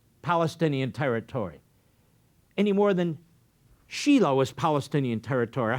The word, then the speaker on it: Shiloh: The very birth of Judaism took place in a town called Shiloh, spelled like Shiloh, but pronounced Shiloh.